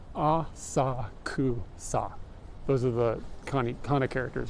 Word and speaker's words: Asakusa: Asakusa. It's like the emphasis is on the different syllables.